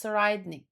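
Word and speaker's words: Tserriednich: Sernik is pronounced sidnik.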